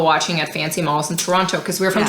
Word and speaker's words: Toronto: People watching at fancy malls in Toronto because we're from Toronto. And it's pronounced Toronto, not Toronto.